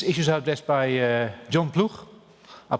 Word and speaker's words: Ploeg: as well these issues are addressed by john plug i'm pronounced in dutch welcome jean blue and he's